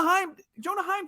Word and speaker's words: Heim: Because his last name is Heim, and it rhymes with Anaheim, and maybe they thought it was an Angels call, and that's exactly what happened.